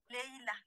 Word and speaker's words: Leïla: Alors, vous le prononcez Laïla ou Leïla? Leïla. Leïla. Alors, son personnage, cette jeune